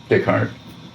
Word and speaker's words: Descartes: Descartes. Descartes. That's how it's pronounced.